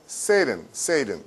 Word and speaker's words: Satan: 영어 발음은요? Satan. 그쵸? 그러니까 친구가 사탄 오면, no, Satan. 막 이렇게 얘기하면 애들이요. 그쵸? 재수없다 보니까 그냥 영어 발음이 Satan.